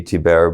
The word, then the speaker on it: Thibert: It should be Tibert, but we call it Tibert.